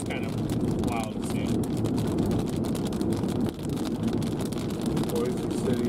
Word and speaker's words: Boise City: Boise City it's pronounced Boise City. Oh, okay, that doesn't really make any sense, but alright. You know, like the AirPod or the headphone company Bose? Yeah. Kind of like Bose City.